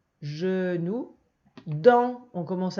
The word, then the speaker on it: genou: Genou, c'est le J de girafe. Genou.